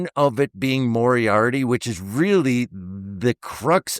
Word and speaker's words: Moriarty: Still, Moriare, you pronounce it Moriarty.